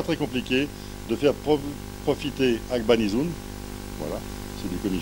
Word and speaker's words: Agbangnizoun: C'est prononcé correctement? Agbanizoun. Agbanizoun.